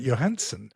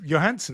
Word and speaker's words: Johansson: say any different because it's a Scandinavian name and you wouldn't say the J in that. So, so if you look at that name, it's Johansson.